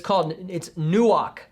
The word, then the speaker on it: nuach: It's nuach. Nuach. For some of you more mature Christians, you may be thinking I'm mispronouncing ruach, but I'm not. It's a completely different word.